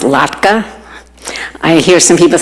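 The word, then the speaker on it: latke: Uh, the Eastern European classic is the potato lattka and again that word is pronounced lattka. I hear some people say lki.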